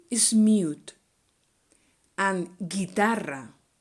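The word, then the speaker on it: guitarra: u is mute and guitar not guitar once again the u is mute and since we have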